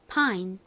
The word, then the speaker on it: pine: 가장 끝에 e가 있기는 하지만 얘는 별다른 소리가 나지 않죠. 그래서 읽어보면 pine이 됩니다. pine.